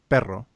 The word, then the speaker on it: perro: But pero, you need to roll your R in order to make the two different words. Right. There's but, which is pero, and then there's a dog, which is perro.